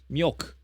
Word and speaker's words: mjölk: J in Swedish is pronounced as Y. Okay, so that was right. Mjölk.